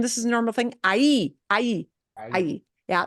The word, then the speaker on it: ahí: And the only thing that you had a little trouble with, and this is a normal thing, ahí. Yeah, that H won't be pronounced, right? Ahí.